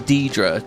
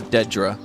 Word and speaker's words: Daedra: Oblivion is the game that changed the pronunciation of Daedra from Deidre to Dedra. Yeah, I still say... I say Deidra.